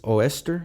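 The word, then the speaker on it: Eostre: Saxon goddess named uh I don't know how to pronounce her name properly but I believe it's Oster. So you spell that E O S T R E.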